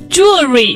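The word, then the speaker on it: jewellery: 像有一个 extra vowel that you don't need to pronounce 就很容易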